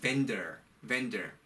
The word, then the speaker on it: vendor: vendor. 여러분, vendor이라는 말을 사실은 이 말을 잘 쓰지는 않는데요. 법적인 용어로서는 vendor라는 말은 판매하는 사람이에요. vendor. 그리고 V 발음이 나니까 윗니로 아랫입술을 한번 살짝 긁어줘야 되죠.